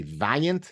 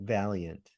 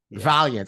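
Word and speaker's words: Vaillant: how the Americans would say it would be Valiant is that how would you pronounce he pronounces it Valiant Valiant okay so we okay there's the difference and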